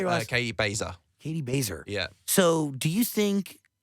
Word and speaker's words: Baser: Katie Baser.